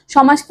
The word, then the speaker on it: সমাস: সমাসকে অনেকে সমাজ বলে, সমাসকে কিন্তু আমাদের কনফিউজ হয়ে সমাজ, সমাজ বলা যাবে না, সমাসই বলতে হবে।